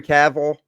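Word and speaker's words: Cavill: that is recent um Henry cavil did I did I say it right this time C that's it Henry caval is uh starring in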